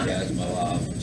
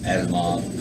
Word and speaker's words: Asimov: And I'm eclectic because I could go from Edmund Cooper to Isaac Asimov to Asimov. I always say his name wrong.